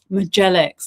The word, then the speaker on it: Mjadzelics: Melix, that's how you say her name.